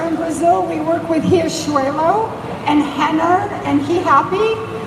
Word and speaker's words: Riachuelo: gente trabalha com a Riachuelo, com a Renner e com a He Happy, que para os americanos é super difícil falar, para pronunciar o R dessa forma.